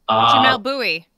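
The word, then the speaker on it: Jamelle Bouie: You guys probably know how to pronounce it. I've never said it out loud. Is it Jamel? Jamel Bowie.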